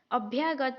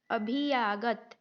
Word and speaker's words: अभ्यागत: नहीं ए रहा है अगर अभ्यागत का उच्चारण अच्छे से नहीं ए रहा है संयुक्त जो व्यंजन है उसका तो आप क्या बोलेंगे क्या पढ़ेंगे की अभ्यागत क्या है अभ्यागत है लेकिन उसको कैसे बढ़ेंगे अभी आदत अभी आगत ऐसे हो जाएगा उच्चारण अगर आपको यह